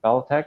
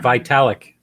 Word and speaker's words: Vitalik: with the SHIB, with, well, how do you pronounce his last name? Balatek or something like that? The guy that's the young guy sold $1 billion, donated $1 billion to India. Yeah, Vitalik.